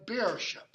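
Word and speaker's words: bēorscipe: Now, the word in Old English that your translator translates feast is this is pronounced ship, yeah, beer ship.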